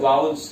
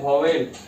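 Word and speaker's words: vowels: इसको पढ़ते, देखिए कंसोनेंट, इसको पढ़ते हैं वाउल्स, लिख दिए उच्चारण इसका। कितना लोग इसको पढ़ते हैं वॉवेल। ठीक है, वॉवेल्स नहीं होता है, क्या होता है? शुद्ध उच्चारण होता है वाउल्स, और इसको बोलते हैं कॉन्सोनेंट।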